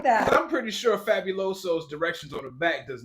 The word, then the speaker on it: Fabuloso: I use either Pine Sol or Fabuloso. Wow, have you read the bottle before? What is it? Is that the Fabuloso's cousin?